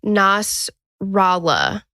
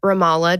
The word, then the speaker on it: Ramallah: of, and I think I said it wrong, Nasrallah in Palestine. Okay. In the city of Ramallah, just outside of Jerusalem.